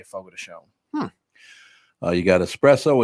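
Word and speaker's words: Fogo de Chão: say fogo de chao, but if you hear a commercial, they'll say fogo de chon.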